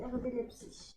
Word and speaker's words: RB Leipzig: Donc ça s'écrit RB Leipzig. Mais ça se dit RB Leipzig.